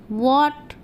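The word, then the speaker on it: what: ज़्यादातर स्पेलिंग में W के तुरंत बाद H का उच्चारण नहीं होता है। ज़्यादातर स्पेलिंग में W के बाद H का उच्चारण नहीं होता, जैसे वाई, वाई, वॉट, जैसे वाई, वॉट, when, where, Y, वॉट, when, where.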